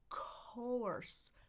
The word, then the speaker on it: course: But ours, this one is much more open. co, co, course, course. Look how open my jaw is, and my tongue is in the back. Course. This symbol I know looks like kind of a rotated C over here. It's all, as in bought.